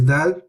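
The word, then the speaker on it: د: So remember, it's not d like English, it's da. So we're pronouncing this letter with the tip of the tongue. The tip of the tongue to the roots of the gums of the upper incisors, so the front of the palate.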